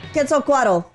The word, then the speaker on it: Quetzalcoatl: Oh my God, I said I was going to pronounce it right. You got it. Quetzalcoatl.